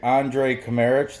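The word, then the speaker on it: Andrej Kramarić: allowed but there is Andre chimeric the J is silent and he is at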